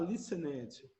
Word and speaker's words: listened: você não vai falar listened. Pronuncia comigo. Listened. Listened. Tá? Então, tá vendo que esse e no final, você não pronuncia. Você omite ele. Você vai direto para a letra D. Então, fica listened.